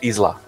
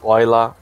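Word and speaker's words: Islay: they're from the Isle of Skye they're either Isla is luck yeah yeah ruff or something I never knew the pronunciation for is LA why my cell call I say it easily but it's y la it has a lot of pronunciations okay correct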